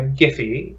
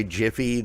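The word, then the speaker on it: GIPHY: put together by by giffy and i do pronounce it that way because it makes sense that for that bird it wasn't put together by jiffy the peanut butter company no not 50 but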